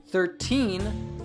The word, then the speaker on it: thirteen: 40 50 etc but we say the teens with a true T sound so if you say it like this will make it easy for people to know what you are saying thirteen thirty fourteen forty fifteen